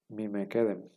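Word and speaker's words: מִקֶּדֶם: plenamente escrita Y entonces la pronunciación sería mime kedem mim kedem vemos entonces como la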